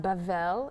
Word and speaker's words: Babel: and one land um Babel Babel pronounced bavel in Hebrew is Babylon the tower